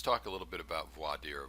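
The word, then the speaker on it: voir dire: now as I said you can pronounce it how you like um you know you can you can hear very funny pronunciations I don't know if you've ever seen the movie my cousin Vinnie um you've got a southern prosecutor who use uses why Deere I believe he he says it's pretty colorful and I've heard people pronounce it all different types of ways but it it's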